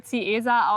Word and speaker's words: Ziesar: Keine Ahnung warum, aber dieses kleine nette Kaff in Brandenburg spricht man irgendwie Ziesar aus.